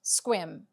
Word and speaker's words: Sequim: The final stop on our tour today is Sequim, Sequim, pronounced Sequim.